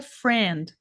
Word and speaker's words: friend: achar que fosse friend então a pronúncia é assim ó Friend Friend É esse risquinho aqui